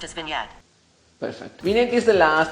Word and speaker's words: vignette: g n8 PPE hey turkey OG&E GTD is pronounced as vignette perfect meaning is the last thing make normal